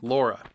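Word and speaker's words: Lara: It was refreshing to have a girl protagonist, and Laura was great. Yes, that's how us Americans pronounce her name, Laura.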